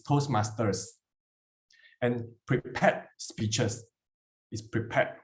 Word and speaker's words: Toastmasters: And I heard a few times of Toastmaster Club. It's Toastmasters.